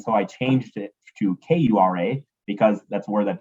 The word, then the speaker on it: Kura: I say Kura, like you're going to cure a disease.